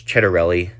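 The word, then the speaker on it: Ciattarelli: Um, but anyways, a lot of people don't know how to say Jack Chedarelli either. Um, but it's Chedarelli.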